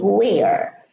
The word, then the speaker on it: where: This one is where. Now look, this one is where. Same spelling as mere and here, but the pronunciation is different.